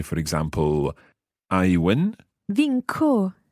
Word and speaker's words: vinco: Vinco. So that's followed by an O, so it must be a hard C.